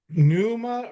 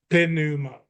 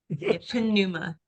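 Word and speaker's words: πνεῦμα: is it is it Numa or is it Puma Puma yeah you will pronounce the P yeah uh and yeah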